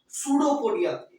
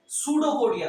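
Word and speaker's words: pseudopodia: तो इसके अंदर पहला पॉइंट आपको दिख रहा होगा, pushes out finger like projection called सूडोपोडिया। इसका पी साइलेंट है, इसको क्या बोलते हैं? सूडोपोडिया। क्या बोलते हैं? सूडोपोडिया। ठीक है।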